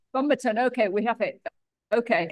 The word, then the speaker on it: Fumerton: It should be Fumerton, but I say Fumerton. Okay, yeah, I'd been saying Fumerton, which is wrong, apparently, so. No, it's correct, but it's not the way I pronounce it.